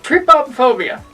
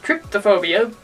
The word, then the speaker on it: trypophobia: Trypophobia. I've also heard it called tryptophobia, but it's spelled trypophobia. Trypophobia.